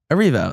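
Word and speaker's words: Erivo: How do you say it? Arivo. So it's like way easier than I was making it. I don't know why I thought there was like an N on it somewhere.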